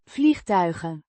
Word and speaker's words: vliegtuigen: vliegtuigen. Means airplanes or aircraft, pronounced Vliegtuigen. with the G, is a voiced sound, like in the English go, and the ch is a guttural sound.